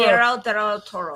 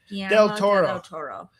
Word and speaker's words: Guillermo del Toro: Guillermo del Toro. I think there's an ad, Guillermo del Toro. Whatever the fuck his name is. Guillermo. Well, Guillermo, I think you're right. Guillermo del Toro.